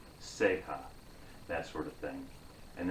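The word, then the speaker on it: ceja: word capo and then the word in spanish is if we spell it it's c-e-j-a sega that sort of thing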